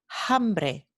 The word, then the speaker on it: hambre: esta palabra se pronuncia hambre hambre y esta palabra se pronuncia harina harina este fenómeno se llama la aspiración de la h proveniente de la f latina ocurre sólo en las